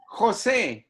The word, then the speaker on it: Jose: No, it's Jose. Jose, I will Jose, try my yes, level like best. San Jose, California. Yeah, You know San Jose, California? yeah, Yeah, it's the same pronunciation.